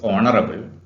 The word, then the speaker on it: honorable: consonant sounds for example consonant sounds is an honorable man even though it begins with edge the pronunciation is honorable and therefore and which is to be used